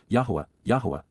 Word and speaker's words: Yahowah: Because indeed, ky, for the express reason, on behalf of, during the approach of, Yahuwah, the proper pronunciation of the name of Eloah, God as